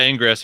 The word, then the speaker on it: Ingress: Is that how you pronounce it? Yeah, Ingress.